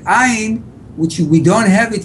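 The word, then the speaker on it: עין: Ayin, it comes from deep down here.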